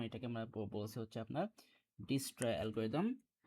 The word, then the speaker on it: Dijkstra: হচ্ছে আপনার ডিস্ট্রা অ্যালগরিদম আবার অনেকে বলে যে আপনার ডাস্ট্র অ্যালগরিদম ডিস্রড মানে এখানে এখানে দেখা যায় কি আপনার জে আর কেটা সাইলেন্ট থাকে যে আর কে এটা হচ্ছে আপনার সাইলেন্ট থাকে সো যাই হোক আপাতত আমাদের যেটা হোক না কেন যেমন এখানে প্রোনাউন্স লেখা আছে যে ডাইকেস্ট্রাত ডাইকেস্ট্রা সো যাই হোক এটা অনেক রকমভাবে স্পেলিং করা যায়। সো আমরা পড়ছি সামহাও মাঝে মাঝে ডিস্ট্রা আবার আবার মাঝে মাঝে পড়ছি ডাইস্ট্রা।